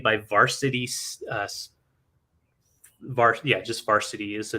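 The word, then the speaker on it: Varcity: Varsity uh yeah just varsity is the name of the company and they spell it v-a-r-c-i-t-y weird yeah it's a weird spelling but it's Varsity um and it has kind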